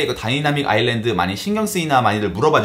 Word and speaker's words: 다이나믹 아일랜드: 여러분들 주변에 보면 꼭 다이나믹 아일랜드를 어디서 주워들은 건 있어가지고 다이나마이트 아일랜드라고 자꾸 잘못 발음하는 친구들이 한 번에 한두 명씩은